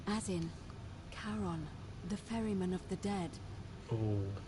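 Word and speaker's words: Charon: a coin it's just as you described it pronunciation is a little off the name you heard wasn't Karen it was c h a r o n as in Caron the ferryman of the Dead karon who in exchange for the right coin helps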